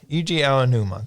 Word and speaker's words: Eiji Aonuma: But it also had I never know how to pronounce his name. Eiji Aonuma. Yeah, Eiji Aonuma, thank you.